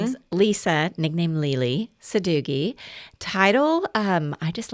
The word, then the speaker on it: Lele Sadoughi: Um, first of all, they want to know how to pronounce my name. So, my name is Lisa, nickname Lely Suggi.